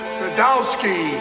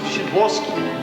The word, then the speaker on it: Sadowski: Sadowski. Shaboski. A chance. Pronounced Shaboski.